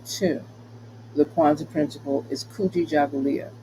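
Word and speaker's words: Kujichagulia: the Quanza principal is kuji Julia I'll say that slower KU G chah just like how it's spelled fulia right and that in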